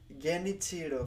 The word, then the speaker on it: Genichiro: That you need to double tap the end.I was like, yeah, that sounds, it's probably not Geni, it's Gen-i, Gen-ichiro.